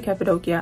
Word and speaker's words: Cappadocia: the hot air balloons in capid doia it's pronounced capid doia or capid doia it's really capid doia I say capadia but it's known for the hot air balloons